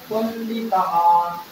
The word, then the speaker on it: পণ্ডিতাঃ: বিসর্গ আছে না, এজন্য হ উচ্চারণ হবে শেষে, পণ্ডিতাঃ।